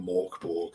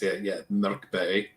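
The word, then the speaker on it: Mörk Borg: Most Americans call it Morkborg, but it's Mörkberg. It means dark fort in Sweden.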